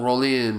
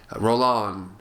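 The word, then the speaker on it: Rollin: horror filmmakers like Jean rolin and Rolan I I I always say his name rolin but I know I think it's Rolan I think you pronounce it I I've been mispronouncing him for years Jean rolon and Jess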